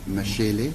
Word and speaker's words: Mashele: Spell that for me, Mashele.